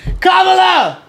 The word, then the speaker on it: Kamala: Cala Harris has left it up to peoplea Kamala is how you pronounce her name like Congressman Eric swell to